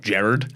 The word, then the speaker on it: Gerard: thirsty tweets that hits actually pronounced Jared yeah well that's how